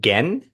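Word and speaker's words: Genn: You have Joey Moy, Brian House, Josh Ramsey from Mariana's Trench, Dave, is it Gen? Is that how you pronounce last Dave name? Gann, Dave yeah.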